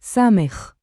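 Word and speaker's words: סמך: Yes, of course, it is pronounced Samekh.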